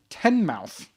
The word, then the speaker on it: Teignmouth: They are from Teignmouth, but it's spelled Teignmouth. Teignmouth in Devon, the county of Devon, and in England.